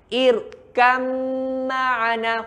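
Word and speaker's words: ٱرْكَب مَّعَنَا: Irkam ma'ana. Huruf ba ni macam tak wujud, sahabat-sahabat. Macam tak ada pun. Sebab itu Ustaz kata, hilang, jelek, tak ada. Hilang bunyi ba.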